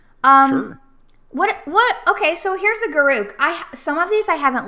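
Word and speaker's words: Garruk: I mean, I say Garouk, but you can say it wrong if you want.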